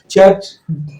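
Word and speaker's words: chew: में या शादी विवाह महोत्सव में या फिर चर्च या गिरजा घरों में लोग जाते हैं वहां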